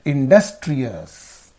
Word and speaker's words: industrious: So what will be the syllable preceding the suffix means does. So therefore you say industrious.